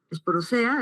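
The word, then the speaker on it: esporozoea: El filon apicomplexa, la clase esporosoea, esporosea, así se se se pronuncia y la sub la subclase coxidia.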